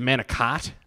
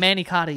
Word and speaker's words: manicotti: in an American Way I think it's a manicott no it's a manicotti yeah yeah manicotti I